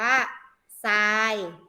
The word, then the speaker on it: ทราย: ทหาร กับ รอ เรือ ติด การ จะ ออก เสียง อะไร คะ ซอโซ่ เช่น ทอ อายอย มั้ย เรา อ่าน ว่า ทราย สาบ ปลา อินทรีย์ เห็น ไหม คะ เปลี่ยน จาก